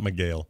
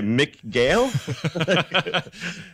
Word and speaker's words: Miguel: Miguel, not Miguel. I was going to say Mick Gale.